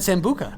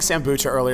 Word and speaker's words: sambuca: girls so so yeah you said it right you said sambuca I know I was saying Sam boo Charlie I was taking kombucha and